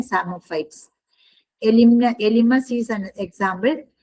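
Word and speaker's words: psammophytes: Opuntia Opuntia is an example of सेरोफाइट then सामोफाइट्स P silent होते हैं सामोफाइट सामोफाइट्स means growing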